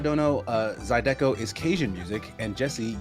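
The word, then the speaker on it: zydeco: names uh fungus finder with $2 Dono uh zido is Cajun music and Jesse you would love it oo write that down write that down hang on Mid explosion okay zido how do I spell that uh z y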